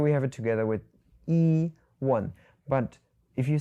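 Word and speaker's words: 一: So, it becomes to the second and the fourth tone together yīgè. But, if you have the word yī alone, it's first tone.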